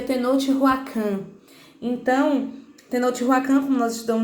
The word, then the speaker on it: Tenochtitlan: Mas ele se pronuncia Tenochtitlan.